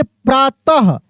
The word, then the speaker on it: प्रातः: तो देखिए प्रातः अः की मात्रा इसमें उच्चारण हो रहा है।